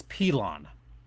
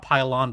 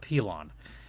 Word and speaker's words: Pilon: It's Pilon. Not Pylon, but Pilon.